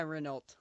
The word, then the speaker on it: Renault: See, I'm still gonna call it Renault because just to me, the T is silent.